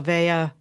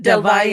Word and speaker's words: Del Valle: I would like to introduce you to my friend, Kim Del Valle. I said that wrong. That's okay. Del Del Valle, Valle.